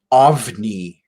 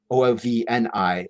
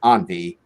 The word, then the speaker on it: ovni: So yeah, and because I think I'm pretty sure it's pronounced OVNI, OVNI, as UFO. That means UFO, I think, in Spanish. So I always said it wrong. I always said Envy, and the name that's where the name comes from.